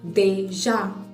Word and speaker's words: déjà: Déjà, D, accent aigu, J, A, accent grave. Déjà.